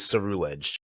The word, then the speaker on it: Ceruledge: The actual pronunciation from the anime is Ceruledge. It's cerulean and edge.